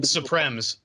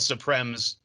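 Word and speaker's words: suprême: Oh, supremes. They're called supremes. It's like Okay. it's spelled like supreme, but in French it's supreme.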